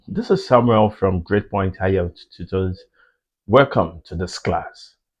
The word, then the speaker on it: IELTS: Okay, and then IELTS is pronounced as IELTS.